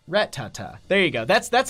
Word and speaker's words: Rattata: coming out from that Retta excuse its Rhett Tata there you go that's